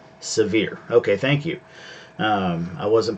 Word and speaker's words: Sevier: Suburban Hillbilly says the pronunciation is Severe. Severe. Okay, thank you. I wasn't positive on that, so I appreciate that. So Sevierville, Sevier County.